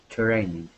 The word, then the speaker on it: training: that we act uh the trick with the TR is that we actually pronounce it like a CHR okay instead of TR training it is true training okay training training good good nice